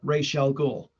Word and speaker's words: Ra's al Ghul: with Ra's al Ghul, and it's pronounced, kids, Yep. Ra's al Ghul, and in that one they just that was